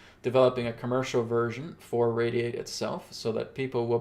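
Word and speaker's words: RAYD8: Like after we launched the Radiate app, which is spelled R-A-Y-D-8, okay? After we launch the app, then I'm going to be working on developing a commercial version for Radiate itself so that people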